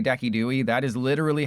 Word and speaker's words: Decidueye: That is That is legitimately the correct pronunciation of Kyurem. I am not I'm not trolling like when I say Decidueye, that is literally how you're supposed to say it.